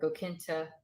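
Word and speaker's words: go cinnte: Notice this is the ly version, so it's the adverb version, so it has the g in front. So gakinta or gokinta. So you may hear that ch pronounced or not pronounced depending on the dialect.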